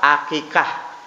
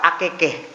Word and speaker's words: akikah: Tulisannya situ doa akikah. Tapi bapak ini bacanya doa akekeh. Kekeh itu bahasa Maduranya berantem, carok kata mereka. Dia salah baca doa akekeh, doa carok, doa berantem.